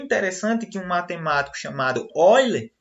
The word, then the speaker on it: Euler: que um matemático chamado Oiler, apesar de se escrever aí, como vocês podem ver no slide, Euler, pronúncia correta é Oiler, certo?